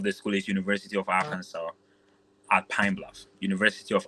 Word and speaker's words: Arkansas: Okay, pronunciation is Arkansas, but then if you want to pronounce it exactly as it is Arkansas.